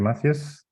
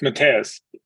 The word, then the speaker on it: Matthias: later awesome thank you Matthews um Matthias I hope I promising it right that's okay everyone is butchering my name what's the right way of pronouncing it it's matteus awesome thank you um